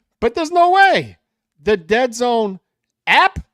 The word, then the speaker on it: DAZN: It rhymes with Lead Zone, I think. Lead Zone. Oh, DAZN. You're right. Formerly known as Dead Zone. It's airing on Dead Zone?